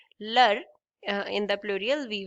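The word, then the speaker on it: leurs: And again S at the end is silent. So the pronunciation will be same. Lur uh in the plural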